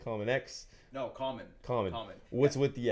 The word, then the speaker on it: COMMXN: And so we pronounce it common.